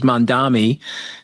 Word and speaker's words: Mamdani: And this kid, and I don't want to pronounce his name wrong, but I think it's Mamdani.